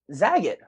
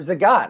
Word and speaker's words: Zagat: And what's interesting about that is let's remember, and a lot of people kind of forget this, Google bought Zagat or Zagat. I've heard it pronounced both ways.